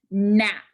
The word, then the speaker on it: gnat: There are two letters again making the n sound. What letters are making the n sound? G-N. G-N says n.